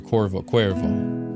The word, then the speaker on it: Cuervo: I can pronounce any Spanish words right now. Cuervo. Okay, perfect. Yeah, so Cuervo.